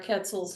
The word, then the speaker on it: quetzal: you know, from the end of Birds Alive, there are Quetzals missing. So Quetzals, is that how you pronounce that?